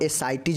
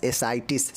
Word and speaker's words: ascites: तो एसाइटिज बोलते हैं। क्या बोलते हैं? एसाइटिज। स्पेलिंग देख लीजिए, ए का क्या होगा? एसाइटिज होगा। ए देख लीजिए ASCITES, एसाइटिस, समझ गए ना।